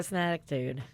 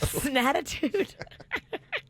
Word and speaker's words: snackitude: I do have a snackitude. Okay. How do you say it? Snackitude. Snackitude. I said it wrong the first time, too. Snatitude.